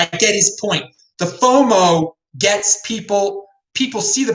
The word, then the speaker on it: FOMO: in terms of fiat so fomo rhymes with inflow i'm gonna quote vinnie